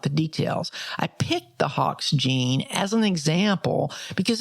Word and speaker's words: Hox: example of this is the Hawks family of genes that's spelled h-o-x we talked a little